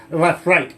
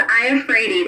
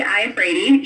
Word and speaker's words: Iafrate: Got to give a shout out as well for the general manager, Peggy Lafrate. Is that the right way to say that? It's Iafrate. It's an I, so it's Peggy Iafrate.